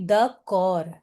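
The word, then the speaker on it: d'accord: अब this word is ending with D बट आई am calling it द कॉर आई एम not pronouncing द डी द कॉर okay yes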